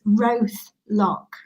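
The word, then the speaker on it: Roath Lock: and again my pronunciation here we go the answer is roth lock so my guess is you even knew that or you didn't roof lock the name of the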